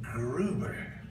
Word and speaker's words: Gruber: If you doubt that, one of the principal architects of this scam, a fellow named Jonathan Gruber, rhymes with goober, is on video bragging